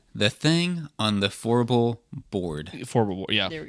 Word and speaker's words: Fourble: And then Well, for years I've been calling it floor.